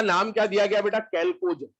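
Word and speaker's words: chalcogen: Group 16 का नाम क्या दिया गया बेटा, कैल्कोजन, है ना। एच साइलेंट है क्या, चैल्कोजन नहीं बोलते हैं इसको, कैल्कोजन बोलते हैं।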